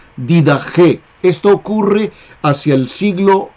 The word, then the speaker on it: Didaché: Se escribe Didaché, pero allí la Che se pronuncia como J. Didaché.